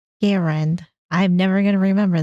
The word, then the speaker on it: Garand: And he asked that his preferred way of his name being pronounced was Garand as in Aaron. So, we'll put a little bit of respect on Garand.